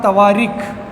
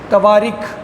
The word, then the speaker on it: Tawarikh: पहला नाम आता है तवारीख, स्पेलिंग है TAWARIKH, तवारीख।